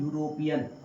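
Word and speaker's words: European: ई यू आर ओ पी ई एफ। इसका उच्चारण होता है यूरोपियन।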